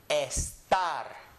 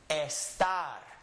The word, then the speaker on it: estar: So anytime I have a Spanish word and I would like to read this Spanish word, I would say this letter is an E. So it would be estar. Read it. Estar. Again. Estar. Estar. With an E sound.